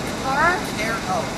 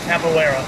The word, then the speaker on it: Capoeira: How do you pronounce it? Capara? Capoeira.